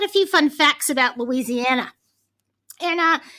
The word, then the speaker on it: Louisiana: So he gave me all the true pronunciation, like Louisiana, not Louisiana.